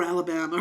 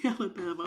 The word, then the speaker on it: Alabama: about that could be Louisiana but um or Alabama it could be Alabama oh it's Alabama cuz she kept mispronouncing Alabama she kept calling it alab this